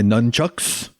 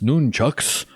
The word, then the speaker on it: nunchucks: sleeve on my wrists then i grabbed my nunchucks it's actually pronounced noon chucks and uh i prayed to god malik for